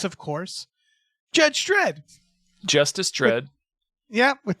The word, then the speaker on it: Dredd: Yeah, you don't normally hear the second D pronounced. Judge Dredd. Judge Dredd. Dredd. It's a real heavy D.